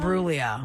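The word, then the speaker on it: Imbruglia: Natalie and Bruia. Yeah. No, the G is silent.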